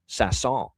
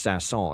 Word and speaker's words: Sasson: that Vancouver Philly game was saying Max Sasson, it's probably because he wants it to be called that way. Um, so I'm assuming that's a name pronunciation change for him.